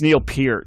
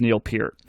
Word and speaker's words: Neil Peart: This is like another like Rico Kasich thing that like people like roundly mispronounce his name. Peart? It's Neil Peart.